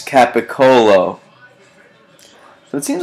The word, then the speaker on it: capocollo: seriously Pantera 808 rights all cats capocollo it's capocollo so it seems like there's a little variance on the pronunciation here in spelling rat pee Fink 66